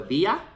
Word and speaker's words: Villa: coming from California, and everyone who knows a little bit of Spanish knows 2 L's is pronounced with a Y. So your name is Joy Villa.